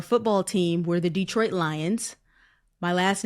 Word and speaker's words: Lyons: You know, for you it's very funny because when I read your last name, you know, it's pronounced lions and you talked about your connection and your husband's connection with Lyra, the this the constellation.